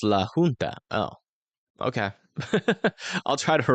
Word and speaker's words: La Junta: La Junta is pronounced La Junta.